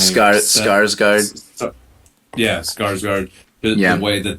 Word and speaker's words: Skarsgård: the way he synced with how do you pronounce that actor's name? Skarsgård.